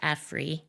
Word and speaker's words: Afri: By prefacing Cobra with Afri, and they were insistent that it be pronounced Afri, they emphasized a Pan-Africanist vision and consciousness, and